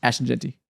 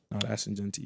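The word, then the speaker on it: Ashton Jeanty: Ashton Genty. No. Damn. Ashen Genty.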